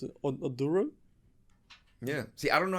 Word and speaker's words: Oduro: just in case we don't know how to pronounce it aduro yeah see I don't know how to tell